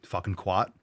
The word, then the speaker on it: CWAT: quat. That sounds good. I like it's a hard C. So, quat.